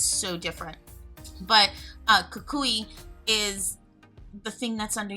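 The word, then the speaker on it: Cucuy: The way we spell it is like C-U-C-U-Y, Kakui.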